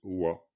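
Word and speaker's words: བ: Voilà, donc si cette lettre pas est à la fin d'un mot, eh bien elle se prononce wa, tout simplement.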